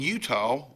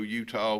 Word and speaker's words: Utah: Because there ain't no W in it. Utah.